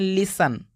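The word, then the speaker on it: listen: Castle, और इसको पढ़ते हैं लिसन।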